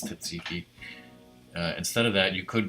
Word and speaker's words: tzatziki: For the chicken gyros, it says instead of Satsuki, Tzatziki, however you pronounce it, I think it's Tzatziki.